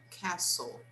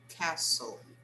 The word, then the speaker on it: castle: next one castle castle we don't pronounce the t okay the t is silent so we say castle castle the next one fire